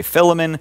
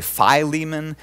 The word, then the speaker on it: Philemon: letter to Philemon today you can pronounce it any way you like some people say philomon some people say Philemon there's no particular way I'll just go with